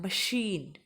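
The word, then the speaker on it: machine: तो देखो पहले इसको प्रोनाउंस करना है, मशीन, मशीन। तो इसमें बड़े श की ध्वनि आ रही है, तो आपको सीधे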